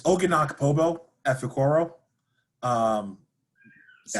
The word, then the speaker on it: Pobo Efekoro: Can you give me the full pronunciation? yeah. So it's Oginak Pobo Efekoro.